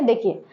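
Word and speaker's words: the: डी डी को भी उच्चारण के आधार पर डी और दी बोला जाता है मतलब इसे हम सम लाइंस दो बोलते हैं और कभी-कभी हम इसे दी बोलते हैं अब कब बोलते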